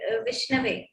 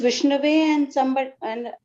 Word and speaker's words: Vishnu: not be pronounced somewhere it is a vishnu it's just vishnu how many times have